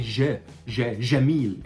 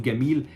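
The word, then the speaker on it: جميل: say Jamil instead of Gamil, Jamil. The same way that Arabs are pronouncing it in different Arab countries in the Gulf, for example. Jamil, okay? We don't say Jamil, we say Gamil, okay?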